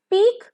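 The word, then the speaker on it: pique: one okays she had peaked at him through a whole in the door P आई क्यू यू ई का म इसका pronunciation होगा पीक ending with ख okay केच पी इसका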